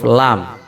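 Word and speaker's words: لام: ada di ujung lidah cara membacanya di cara membacanya adalah dengan menggerakkan semua lidah dan bertemu dengan ujung dari langit-langit mulut Oh ya jadi lam itu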